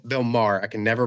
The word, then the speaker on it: Maher: It also had Bill Mayer. Uh, or not Bill Mayer, Bill Maher.